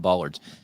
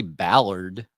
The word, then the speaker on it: bollard: Yeah, Cannon, we can do a show about bollards.